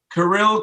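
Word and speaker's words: Kirill: there is a lot of top end candidates karil caprizov that's how he wants his name pronounced wow okay off the board yep he'll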